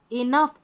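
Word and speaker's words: enough: अब देखिए GH कहीं कहीं पर जो है फ की ध्वनि देते हैं, जैसे कि लाफ, यहाँ पर है कॉफ, टफ, इनफ और रफ। तो यहाँ इन सारे स्पेलिंग में देखिए GH आ रहा है ना, याद कर ले इनको, इसको हमको फ पढ़ना है, ठीक है, फ पढ़ना है।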